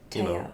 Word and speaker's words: Teo: I've been like, yeah, well, that's not how my name is pronounced. I would Yeah. prefer it if you called me, Teo. Teo.